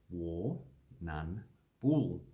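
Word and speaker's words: Warrnambool: indigenous word warning warning this one we just pronounced all about war none four okay so we don't say the r twice war none ball so if we break it down we have war none bull and then we have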